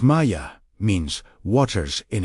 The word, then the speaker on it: Maya: In this specific breath, Maya, pronounced Maya, means waters in its Aramaic form.